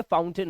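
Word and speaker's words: fountain: आई है है ना इसको हम ए नहीं इसको अन पढ़ते हैं पता है माउंटेन फाउंटेन ये इस तरह से पढ़ना चाहिए इसका सही उच्चारण ये है ये फाउंटेन है फाउंटेन अ का साउंड फाउंटेन तो ए आई की आवाज नहीं है यहां पर आ की आवाज है ठीक है फाउंटेन इट्स माउंटेन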